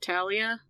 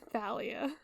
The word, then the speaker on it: Thalia: I've only ever heard people say it Talia because I pronounce it like the river temps with the th okay Rick R Rick Ry saying Thalia I literally just searched